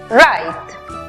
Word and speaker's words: write: Tenemos W muda antes de R al comienzo de la palabra. También vemos que termina en E muda al final, precedida de una consonante. Aplicamos entonces el sonido abierto de la I. La pronunciación final para la palabra escribir es write.